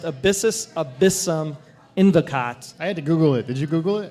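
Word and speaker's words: abyssus abyssum invocat: Latin which basically comes up to it it's pronounced abyssus abyssum endicott i had to google it did you google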